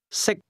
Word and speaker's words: 識: 識， The difference between the two is that can is spoken with a high level tone, and to eat is pronounced at a low level.